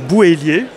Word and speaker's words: Bouhélier: Donc cette fois-ci on est au pôle imaginaire avec Clément Bouhélier, je prononce bien.